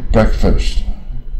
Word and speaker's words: breakfast: 你看前面 break 是 break 嘛，不卷舌啊，到了早餐呢，这边 breakfast 啊，又卷一半啊，